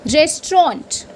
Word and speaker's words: restaurant: And then the last one, the last pronunciation for today, it's restaurant.